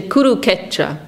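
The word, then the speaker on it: Kurukshetra: And so for Bengalis, this S is silent. So they won't say Kuru Ksetra, they say Kuru Ketra.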